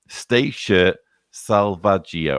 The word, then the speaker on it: Stasia Salvaggio: Sincerely, Stasia Salvaggio, pronounced... Sorry, I should have read that first. Pronounced Stasia Salvaggio. Or I got the Salvaggio right, I think.